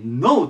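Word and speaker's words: know: 言います NO です最初 K があって K ってくって発音するんですけどノじゃなくて K の発音せずにノといきますで意味がま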